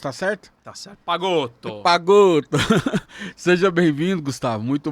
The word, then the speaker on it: Pagotto: A pronúncia tá certa? Tá certo. Pagotto.